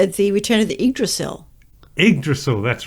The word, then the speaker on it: Yggdrasil: Yggdrasil, that's right.